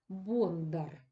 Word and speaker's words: Бондар: прочитати для себе текст Раніше люди вимовляли Боднар Чому Тому що це слово походило від давньої назви дішки бодна Ось і звідси людина яка виготовляла її називалася Боднар але якщо вимоля знаєте Боднар Боднар нам якось важко мовляти Ну щось